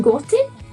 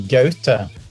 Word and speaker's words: Gaute: Was his name Gotti? Yeah, that's the Norwegian pronunciation would be Gaute, but yeah, that's the guy.